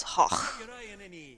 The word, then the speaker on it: Gogh: We were taught that it's Hoch, if you're doing it properly or something like that.